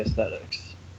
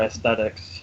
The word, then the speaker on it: aesthetics: you know me I I'm a sucker for a athetics or Aesthetics as I've I've been told as how how it's said but I say things